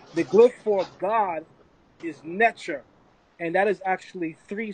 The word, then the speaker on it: Neter: who pronounce it as enter and i want to make this clear that is a coptic pronunciation and the coptic pronunciation is flawed by greco-roman influence anyone who studies the